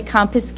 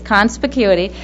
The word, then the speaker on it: conspicuity: it's okay it's um and don't say compis it's conspicuity and this how this is